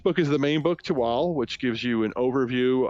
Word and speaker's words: Tehuatl: project is called tewal it's spelled t-e-h-u-a-t-l which would probably make you think it's tohu waddle but it's not it's to wall and it is a